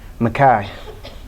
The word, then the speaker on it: Micah: And we pronounce Micah as we wanted, Makai, because like the kid from Clarkers, we scrape fists and cuffs for the dreams of you.